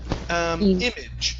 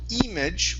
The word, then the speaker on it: image: Our next word here is the word image. Instead of image with an e sound, it's a short I sound.